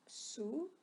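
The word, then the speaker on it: Sioux: okay by the way you pronounce this guy's number three as soo okay such as the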